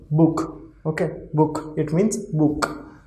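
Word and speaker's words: Buch: Then the pronunciation of this ch will be kh. Okay, So it is book, book.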